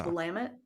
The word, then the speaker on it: Willamette: Well, a lot of people say Willamette in Washington. They say Willamette. People like to say Willamette, but it's Willamette.